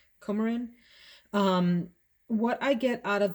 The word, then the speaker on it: coumarin: this other note that i think is pronounced coumarin or camarin comarin what i get out